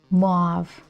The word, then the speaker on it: mauve: Mauve. Mau. It doesn't make any sense when you keep saying it over and over like drawer. Oops. Mob like mod. That makes sense. one syllable. So not muave mau Okay, so this